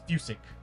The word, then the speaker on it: Fusick: This is Fusick, not Fusk. It's Fusick.